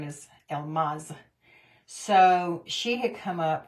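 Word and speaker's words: Elmase: Her name is spelled E-L-M-A-S-E. But it's pronounced Elmaz.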